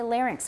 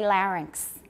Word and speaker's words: larynx: old pronunciations from before so in the in the midwest we say larynx we don't say larynx okay in midwestern we don't distinguish between those two in this position so larynx everybody larynx